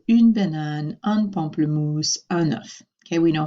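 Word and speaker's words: un œuf: I mentioned this before enough we actually pronounce the F at the end of that word these we do the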